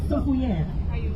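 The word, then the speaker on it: Soufrière: heading to a town called Soufriere or like the locals say SOUFRE DANS L'AIR meaning Sulphur in the air As we cruise down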